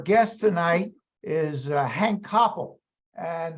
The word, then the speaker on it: Kopel: tonight is uh Hank Coppell and that's spelled k-o-p-e-l I'm absolutely convinced well it's pronounced the same as my name I'm convinced that if